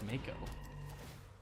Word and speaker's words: moo: not working marauding moo which I now know it's pronounced moo we're going to keep